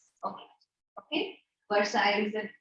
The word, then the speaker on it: Versailles: Versailles. Okay. Okay. Versailles is the pronunciation, which was very, very humiliating.